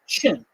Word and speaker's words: Qin: new historical identity of people called the chin uh which in in the opinion system is spelled Qin the chin people now we'll